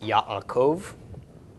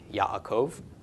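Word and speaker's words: יעקב: quote me on that but anyway regardless it's pronounced Yaakov Yaakov and so yeah there's not much correlation between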